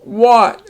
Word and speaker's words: what: question mark after it what are you doing and again if you spell if you read it with a short a it would be wax and it's not a word so you know it's